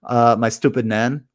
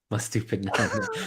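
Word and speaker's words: Estupiñán: I like it's, if you don't know how to pronounce Estupinan, listen to the Planet FPL Clash of the Correspondents, and Sam, the correspondent, he said, "My stupid nan." My stupid nan.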